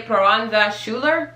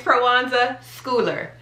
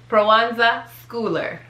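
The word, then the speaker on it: Proenza Schouler: up all the time i used to say piranza schuler because i mean what else would it be no that's not it it's prowanza schooler prowonza schooler prowanza schooler i that would not have been my first guess my first guest was piranza schuler because that's how you would say school should no bruanza schooler yeah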